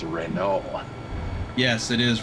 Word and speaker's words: Renault: correcting my pronunciation it's Renault yes it is Renault the t is silent turn left Adam buser